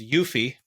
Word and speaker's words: UEFI: of the uefi or what i'll pronounce as yuffie uh you know how